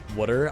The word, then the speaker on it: Wooder: Wooder? It's so weird. No, we always pronounce it, or we type it W-O-O-D-E-R, you know, like wood, like a piece of wood.